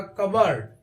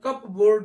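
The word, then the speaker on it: cupboard: सही उच्चारण इसका होगा कबर्ड लेकिन कई बार हम कप बोर्ड पढ़ लेते हैं कप बोर्ड नहीं इसको हम कवर्ड पढ़ते हैं यहां पे पी साइलेंट हो जाता है सही उच्चारण यही है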